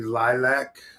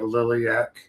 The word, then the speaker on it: Lilac: We uh went we had uh an appearance at the Lilac. I mispronounced it last week. Something I deeply regret and I'll punish myself. I kicked myself in the balls for weeks for calling it Liliaak.